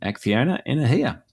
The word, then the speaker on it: Acciona Energia: And he gave us a lesson, Acciona Energia.